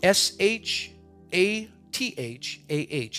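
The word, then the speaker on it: shathah: The word is shatha. Again, shatha. S-H-A-T-H-A-H. It is pronounced shatha.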